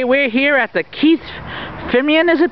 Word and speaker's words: Fimian: We're here at the Keith Fimeian, is it pronounced?